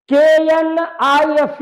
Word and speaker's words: knife: KNIFE knife, K is a silent letter.